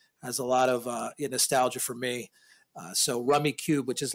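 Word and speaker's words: Rummikub: It's spelled Rummy, but K-U-B. K-U-B. Yep. It's Rummy Cub. Yep. But it's Rummy Cube.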